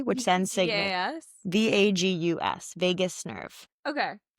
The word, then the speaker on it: vagus: VAGUS, vagus nerve. Okay. I just didn't know if it was spelled like Vegas, like Las Vegas. No, vagus.